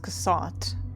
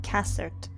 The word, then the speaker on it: Cassat: So, it's not pronounced Cassat, it's pronounced Cassert, which is not as fancy as I pronounce it, so I'm gonna keep calling him Cassat.